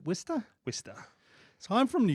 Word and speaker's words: Worcester: The minute I see Worcester, it's, oh God, Is that how you pronounce it? Worcester. Is it Wista?